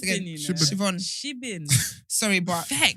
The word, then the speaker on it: Siobhan: Siobhan. Siobhan. I was trying to remember like how is it pronounced again? You know. Siobhan. Shibin.